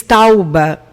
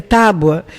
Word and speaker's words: tábua: você acaba falando erradamente quando você diz tauba tem muita gente que diz tauba se rei a tauba quando o correto é tábua por isso o barbarismo